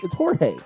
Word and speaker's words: Jorge: You're saying it's George. No, it's Jorge.